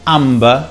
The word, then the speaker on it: amber: When MB is in the middle of a word, it depends. For example, amber, we pronounce the B, but plumber, we don't.